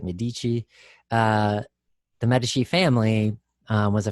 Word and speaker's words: Medici: merchants and bankers uh the medici if you're in italy pronounced at medici the medici family was